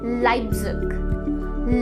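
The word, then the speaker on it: Leipzig: लीपजिग या लेप्जिग? नहीं, इस शहर को हम रियल में प्रोनाउंस करते हैं एज लाइप्जिग, लाइप्जिग, नॉट लीपजिग और लेप्जिग। ये दोनों ही प्रोनाउंसिएशन गलत हैं।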